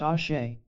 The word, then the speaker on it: Ashe: This principle is known in Tibetan as Ash, pronounced Ashe.